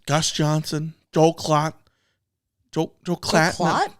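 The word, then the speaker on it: Joel Klatt: Joel Joel Clatt. No, not Joe Clatt.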